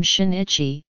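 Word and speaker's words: Shin'ichi: Muse half not Musha in the Japanese name Shinichi the apostrophe shows that the pronunciation is she and I Chi where the letters N and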